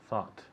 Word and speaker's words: thought: same with think thought it rhymes with words like hot and not right yes caught caught